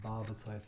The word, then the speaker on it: Barbatos: now for this baba toast name is barbara taste rhymes with comatose the tops of the